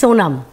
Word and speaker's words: Sonam: Because I get nervous about pronouncing it wrong. It's Sonam.